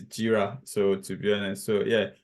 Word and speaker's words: Jira: So I know some people are pronouncing Jira, like Jova Jira. It's not Jira, so it's Jira.